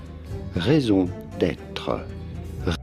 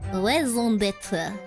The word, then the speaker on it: raison d'être: How do you go about pronouncing it? For reference, in French, we would say it as raison d'être. Raison d'être.